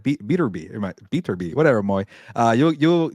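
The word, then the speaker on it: Beterbiev: it could be bivo or maybe uh uh beer be from Russia those guys need to fight by the way a Bibble and beater be I gotta say his name properly my bad uh beater be but uh yeah obviously you got Terence Crawford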